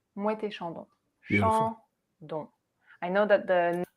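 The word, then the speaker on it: Moët et Chandon: And we pronounce it as if it was just one word. Mouette et Chandon.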